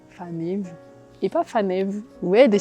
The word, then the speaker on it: Faneva: ou des bijoux malgaches, la prononciation de mon prénom, Fanev. Tu vois, par exemple, ça c'est difficile de dire aux gens comment se prononce mon prénom parce que même moi, j'ai pris l'habitude de me présenter en disant « Je m'appelle Faneva ».